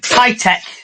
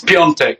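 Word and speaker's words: Piątek: His last name's like Pitek. It's Pitek last name. It's Piontek, which is Polish for Friday.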